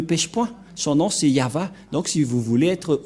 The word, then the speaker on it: Yahvah: de de yava et la prononciation de y h selon les hébreeux c'est yava et personne ne peut